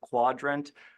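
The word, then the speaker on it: Qdrant: Also Quadrant, not Quudrant specifically. It's spelled that way, but it's pronounced Quadrant.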